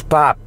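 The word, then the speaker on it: 밥: single meal every day that's pop like the guy name right bob this is pronounced bob is rice we eat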